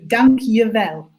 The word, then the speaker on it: Dank je wel: So, Dang Jewel, is it correct, my pronunciation? The J is a Y, so Dank je wel.